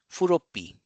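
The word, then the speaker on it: フロッピー: So there is a double consonant here. Floppy, furopi, furopi, furopi.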